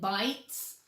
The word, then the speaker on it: bites: Oh, you think bites? Let's see. It does have a silent E that makes the I a long I.